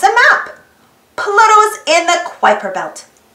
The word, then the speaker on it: Kuiper: map pluto's in the kuiper belt kuiper rhymes with wiper it is full of